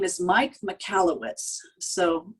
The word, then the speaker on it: Michalowicz: his name is mike michalowicz so mikkellowitz is kind of like michael with a oh wits at the end so if you want